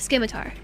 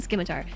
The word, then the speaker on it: Scimitar: Sorry for being this guy, but the C is silent in Scimitar.